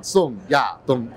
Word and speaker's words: 宋亚东: The tone must go in down. 宋亚东就是对，没有这种就是宋亚东 It's not 宋亚东 It's 宋亚东 Yes.